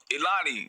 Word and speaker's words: Illanee: you how are you am i saying your name correctly you're saying it correctly you're saying it perfectly all right all right